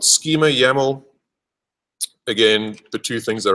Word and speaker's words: YAML: yo info yaml file yml is pronounced yaml uh is basically your